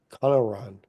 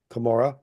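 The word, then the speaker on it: Cumorah: in the hill con Conan now again we don't know why she would pronounce it that way but that's the way the person wrot wrote it down but we know eventually it's called kamora but anyway um here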